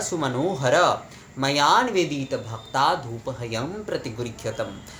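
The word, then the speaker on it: प्रतिगृह्यताम्: ने मुझे पूछा है ये प्रतिगृह्यतम यानी कि म होगा या फिर अनुस्वर होगा। तो क्या होता है जब हम उच्चारण कर रहे हैं संस्कृत में प्रतिगृह्यतम इस प्रकार से जब हम कर रहे हैं, तो वो ना प्रतिगृह्यतम अत्यंत अनुस्वर कई समय जो है वो सुनाई देता है, पर असल में जो है वो म है।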